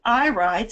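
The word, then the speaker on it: irides: their health and in their lives so the eye rides and that is spelled i-r-i-d-e-s is the correct plural when we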